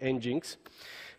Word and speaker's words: nginx: is pronounced correctly so for me it is nginx but it may be engines it's very fast one